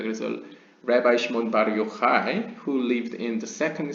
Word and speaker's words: Yochai: 그래서 이제 최근 한국 언론에서 랍비 시몬 바르 요차이라고 발음하시더라고요. 근데 이제 많이 헷갈려 하십니다. 이 CH 발음이 보통 우리가 배운 영어로는 차이니까요. 그렇지만 이제 히브리어에서는 CH는 거의 항상 하이라고 읽으시면 됩니다.